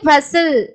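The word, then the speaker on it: bustle: அதே மாதிரி பசில், பசில், பசில், பஸ்டில்னு சொல்லக்கூடாது, பசில்.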